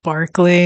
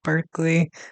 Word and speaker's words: Berkeley: But I guess it's pronounced Berkeley instead of Berkeley.